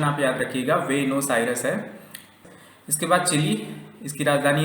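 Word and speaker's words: Buenos Aires: Argentina, इसकी राजधानी है वेनोस आयरस, इसका प्रोनाउंसिएशन आप याद रखिएगा, वेनोस आयरस है।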